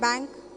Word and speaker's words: bank: in Telugu or Hindi because this ah sound is not there in Telugu what do you write come please come Bank how do you write Bank in Telugu or Hindi but that is this is Bank and so this is a very special sound which many many languages do not have that